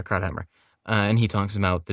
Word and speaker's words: Krauthammer: It was Charles Crosshammer, I think I'm pronouncing that Krauthammer, right. yeah, Yeah, Krauthammer.